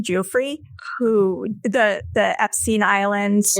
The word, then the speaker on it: Giuffre: How do you pronounce her last name? Giuffre, who the Epstein Islands, right?